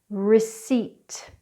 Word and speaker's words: receipt: The silent P is not normally pronounced when it comes after an N, an S or a T (PN PS PT) like the words pneumonia psychology receipt now let's go through